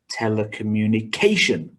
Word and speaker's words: telecommunication: third syllable climatology and the last example has one two three four five six seven syllables with stress on the sixth syllable telecommunication don't worry we're not